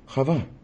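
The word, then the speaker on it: חוה: Now we're going to look at the name of his partner, Eva, or Chava, as we call her.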